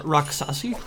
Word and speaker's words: Raksasi: Hello everyone, this is Devil Slayer Raksasi, I believe is how you would pronounce that subtitle.